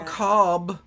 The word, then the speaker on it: ACAB: friend who is like oh I've seen acab but I didn't know that that's how you'd say that a cob and um you can't